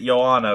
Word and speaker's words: Johanna: Our scene's pretty great, but honestly, Johanna. Johanna, yeah. Oh, that's right. That's how you pronounce it, Johanna.